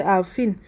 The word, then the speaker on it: Alaafin: Yeah, so I can't go meet Yoruba person, maybe pronounce the name as before they say Alaafin.